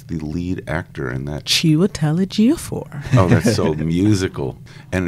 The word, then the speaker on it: Chiwetel Ejiofor: How would you pronounce the lead actor in that? Chiwetel Ejiofor.